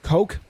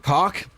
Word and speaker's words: Koch: to call him Greg Koch. There's like 6 different ways to pronounce that name, it seems. I've heard people call it Coke. I've heard cock. Say what you like.